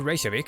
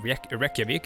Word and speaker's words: Reykjavik: While sailing to Reykjavik from Norway, that's how you pronounce that, by the way. It's not Reykjavik, it's Reykjavik. But that's a sound that most English speakers or Anglophones cannot make. The sh sound.